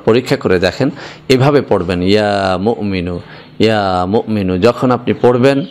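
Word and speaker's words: يا مؤمن: বন্ধুরা আমার, এখানে যদিও বাংলা লেখা হয়েছে মুমিনু, কিন্তু আসল উচ্চারণটা হচ্ছে ইয়া মুমিনু। এখানে মিমের পরে একটা হামজা রয়েছে, একটুখানি ধাক্কা হবে এভাবে, ইয়া মুমিনু।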